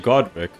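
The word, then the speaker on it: Godrick: I think I also misspelled or said his name wrong. It's actually Godric.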